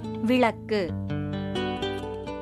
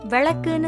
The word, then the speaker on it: விளக்கு: விளக்கு, இது சரியான உச்சரிப்பு. விளக்குன்னு சொல்லுவது தவறு.